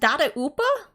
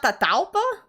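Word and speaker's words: Dadaupa: Dada Upa? It's not Tataupa? Oh, I always said Tataupa. Dada Upa. Oh, because Hilly Churros say Tata.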